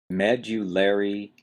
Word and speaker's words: medullary: hard one to say med you larry cavity you've got a strong stress on the first syllable med and then you've got a lesser stress on the third syllable layer medullary cavity well what is a